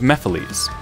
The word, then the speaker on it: Mephiles: But first, some of you may not know of Mephiles. Who are you? And how do you know my name? And yes, I know it's pronounced Mephiles, but this is how I say it.